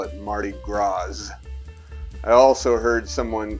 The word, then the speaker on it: Mardi Gras: store yesterday call it mardi gras i also heard someone call louisville lewisville i guess they didn't get the memo that the s is silent in both accounts but i digress that